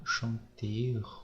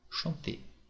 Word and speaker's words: chanter: Donc là c'est parler, chanter, ce n'est pas chanter ou chanteur ou chanteur, non, c'est chanter avec un et à la fin.